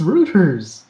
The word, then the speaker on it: Reuters: my god that was Reuters Reuters Reuters roto-rooter's it's a German name an EU in German is pronounced ye business that's why anheuser-busch